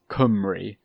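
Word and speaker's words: Cymru: might say and well komburu is how if it was elvish it would be pronounced but uh it's actually kumri as uh the welsh might say it but they can't even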